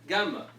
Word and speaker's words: gamma: We already mentioned this letter, gamma. It's always a hard G.